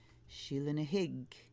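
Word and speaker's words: Sheela na gig: it that way empowerment she'll in a hIgG and that is how it's pronounced in the Gaelic Sheila dig desperation Scottie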